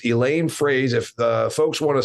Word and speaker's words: Froese: change her name's Elaine Fraze and it's spelled f-r-o-e-s-e but it's and pronounced like the thing that you say when you say it in English it's a phrase Elaine phrase if the folks want